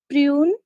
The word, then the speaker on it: prune: Prune. Oui. Be careful with the U. Remember, it's really narrow, so you U, prune. D'accord. Prune. Mm-hmm. And go strong with the PPP.